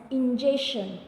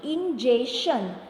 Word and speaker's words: ingestion: process is known as ingestion, not injection student. See the pronunciation, ingestion.